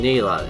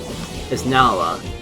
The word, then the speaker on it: Nala: Or why am I pronouncing Neela? It's Nala.